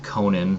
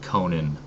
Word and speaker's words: Conan: Howard always pronounced it Conan and actually wrote it out as a guide to pronunciation as Co n apostrophe n so Conan but yeah